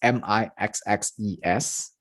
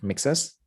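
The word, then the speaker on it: Nixxes: Makers of the PlayStation announced the acquisition of Mixes Software, that is Mixes, I believe, Mixes. That's how it's pronounced.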